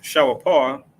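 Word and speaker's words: שופר: So this is a shawapar, that's how you say it in the ancient Hebrew, a ram's horn, which is a type of trumpet.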